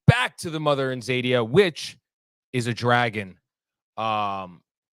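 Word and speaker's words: Xadia: live in the East known as zadia spelled with an X and the humans live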